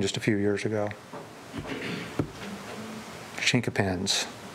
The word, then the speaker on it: chinquapin: Now, if you go further back east and want to become a little more sophisticated, it's Chinquapin.